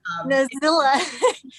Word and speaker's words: Nazilla: Apparently, I pronounced your name like Godzilla because Nazilla, it's I mean, you know, it's Allison backwards, so what?